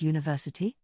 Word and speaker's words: university: a vowel letter, like university? Let's understand, even though university starts with a vowel letter, it sounds like it begins with a Y sound, so we use a.